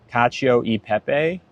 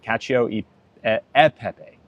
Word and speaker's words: cacio e pepe: Oh, wait, did I say it wrong? Peppa? Peppa or Pepe? Cacio e pepe.